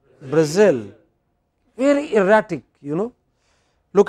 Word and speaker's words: Brazil: capital of Spain okay so in English it is pronounced not as Madrid what else Madrid not at Berlin but Berlin not at Brazil but Brazil very erratic you know